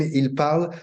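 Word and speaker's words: parlent: Je parle, tu parles, il parle. Then you put ENT, but it sounds the same, il parle.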